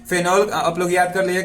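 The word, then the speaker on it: phenol: तो जैसा कि हम लोग जिस सोसाइटी में रहते हैं उसमें फेनॉल को फिनाइल बोला जाता है। क्या? फिनाइल, लेकिन वो होता है फेनॉल।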